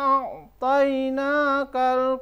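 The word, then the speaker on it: أعطيناك: panjang 5 ketukan, kemudian di kata a'tainaka itu dibaca toi, to dibaca toi bukan toe.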